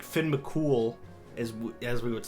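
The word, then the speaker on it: Cumhall: it looks like it like his name looks like mum ha or whatever and it's mol is is how you would pronounce it I can't believe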